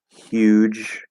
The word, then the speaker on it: huge: um and there you go okay uh human huge hue notice the lips they naturally kind of